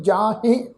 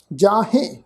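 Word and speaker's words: ਜਾਹਿ: साध संगत जी जज्जे नूं कन्ना हाहे नूं जिहड़ी सिहारी है, हाहे अखर के उपर असीं बिंदी सहित नासकी पाठ उच्चारण करांगे जाहे। कोट पराछत जाहे, जाहे नासकी उच्चारण होएगा जाहे, नाम लिए हर हर।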